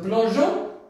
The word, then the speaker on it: plongeons: très important bien du haut du rocher n plongeons du haut du rocher nous le verbe commencer